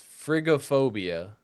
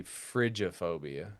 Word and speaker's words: frigophobia: So now this next one I think you could say it both ways and I think it just depends on where you come from in the world. Okay. So it's frigophobia but you could also probably say frigophobia because it's f r i g o p h o p i a.